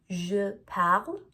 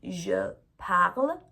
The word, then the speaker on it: parle: And it's important to know that although we write E or letter E at the end of them, or ES for tu, we don't pronounce that.